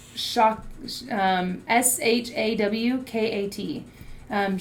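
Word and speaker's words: שקט: um is this the word rest is actually um pronounced shock um s-h-a-w-k-a-t um Shaw cat is how you would pronounce it um it means to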